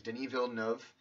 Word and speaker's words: Denis Villeneuve: His name is Denis Villeneuve. I believe that's how you say his name.